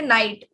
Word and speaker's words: knight: pronounce it we say night like there is day and night night types right so k is actually silent so we don't consider